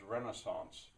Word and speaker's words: Renaissance: it the English Renaissance in America we pronounce this Renaissance the French way uh but anyway uh